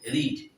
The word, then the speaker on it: read: তো past participle form বানানটা হবে একই, রিড, এস থাকবে না।